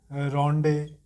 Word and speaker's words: rondeau: Next important जो information है, he experimented different rhyme schemes like Ottawa Rima, है ना, टर्जा रिमा, उसके बाद रोंडे, स्पेलिंग क्या है RONDEAU, रोंडे।